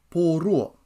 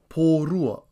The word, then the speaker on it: Pōrua: This is spelt M-O-N-I-R-E. Repeat after me. Monire. Monire. Tuesday is Pōrua, spelt P-O-R-U-A. Repeat after me. Pōrua.